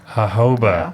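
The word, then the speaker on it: jojoba: say hoba oh yeah what is it hoba hoba yeah so this whole time you making me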